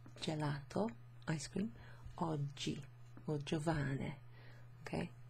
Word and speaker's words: oggi: Last word there, oggi. O-double-G-I, so when you have a G and an I in Italian, it makes a soft G sound, okay?